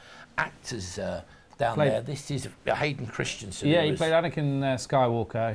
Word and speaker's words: Christensen: do you say it Christians Sansom IV is Christensen interesting alright this is a lovely image yeah